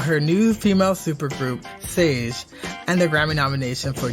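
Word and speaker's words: SÄJE: pronounce this correctly it's sage correct yeah it kind of rhymes with beige okay and your and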